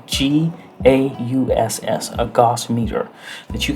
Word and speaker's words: gauss: and you can purchase a gas meter it's pronounced spelled g a u s s a gauss meter that you can get a